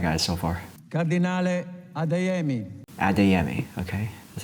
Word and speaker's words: Adeyemi: Adeyemi, okay.